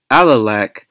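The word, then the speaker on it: Alalakh: So, basically, ancient Caucasian groups cannot successfully model EA early middle bronze age and alac middle late Bronze Age. And by the way, that's how I'm going to pronounce it. Alac.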